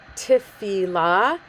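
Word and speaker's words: תפילה: If you're reading it in the Hebrew, the correct pronunciation is tefillah, not tefillah, which is how some of the kids refer to it when they're in Hebrew school. But it is tefillah. Technically, Lamed gets the accent.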